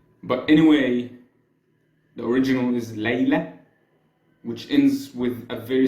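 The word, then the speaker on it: Layla: means one night and it's pronounced Lea in the original Arabic or in my accent Le my accent Egyptian accent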